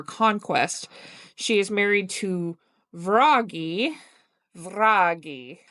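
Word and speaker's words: Vragi: She is married to Vraggy Vi V R A G I a child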